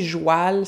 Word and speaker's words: joual: Dans le fond, parler joual, ça voulait dire parler comme les gens, la classe populaire, les fermiers, les paysans, qui prononcent le mot cheval, joual.